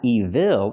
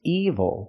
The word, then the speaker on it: evil: Again, it's not evil, it's evil. The stress is on the first syllable and I can say the devil is evil.